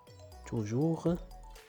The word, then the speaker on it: toujours: jamais، يعني هنايا عندهم بجوج على fin اس، لكن لا ننطق الحرف اس. toujours، jamais.